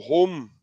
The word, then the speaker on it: Holm: name is Odin Tiago home and that the home is spelled h-o-l-m oding played for valarenga